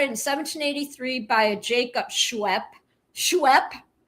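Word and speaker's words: Schweppes: It was founded in 1783 by a Jacob Schwep. Schwep. Is it schwep? Schwep. How would you even say it? You can spell it out for me. Scooby says ginger ale. It's Schweps. Schweps. Ginger ale.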